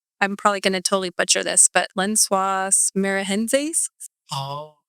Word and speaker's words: Lençóis Maranhenses: I was in Brazil and I was going I'm probably going to totally butcher this, but Lençóis Maranhenses. Oh, How do you say it? Lençóis Maranhenses.